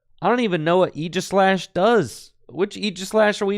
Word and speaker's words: Aegislash: Now, if you chatters in the chat think that I'm mispronouncing Aegislash when I say Aegislash, I have some bad news for you. That is exactly how Aegislash's name is pronounced.